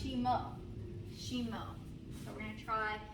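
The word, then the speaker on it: した: Okay, so Japanese for down is spelled like a bad word, S-H-I-T-A, but it's pronounced Shemo.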